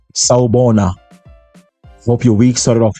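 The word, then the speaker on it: Sawubona: is in Zulu from South Africa which is pronounced saona hope your week started off well welcome to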